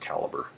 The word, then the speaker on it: Calibre: uh it's called Uh caliber uh ebook management or calibra or it should be pronounced caliber that's how it should be pronounced but I don't actually